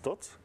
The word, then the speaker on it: Thoth: So the pronunciation, at least Czech or Slovak, is Thoth.